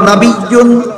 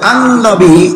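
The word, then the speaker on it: نبيّ: নবী শব্দের একটি উচ্চারণ হলো নবিয়্যুন, এর অর্থ হলো যে কোনো নবী। নবী শব্দের আরেকটা উচ্চারণ আরবিতে হয় আন-নবী, এর অর্থ হলো আমাদের নবী। নবিয়্যুন বলতে যে কোনো নবী বোঝায়, আর আন-নবী বলতে শুধু আমাদের মহানবী বোঝায়। এই সিরাত শব্দের সাথে আন-নবী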